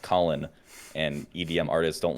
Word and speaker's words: CLN: So I thought it was pronounced CLN because that's all his name is. It's just CLN. And then Dayton told me it's pronounced Colin.